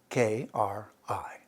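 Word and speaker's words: कृ: should know it's cree k-r-i it's actually a dotted r and pronounced kri karma from kri dharma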